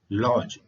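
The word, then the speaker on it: lodge: में ड साइलेंट है लॉज एल ओ डी जी लॉज लॉज का होता है ठहरने की जगह स्पेलिंग में डी का उपयोग हुआ है परंतु चरण लॉज में डी साइलेंट है प को देखिए साइकोलॉजी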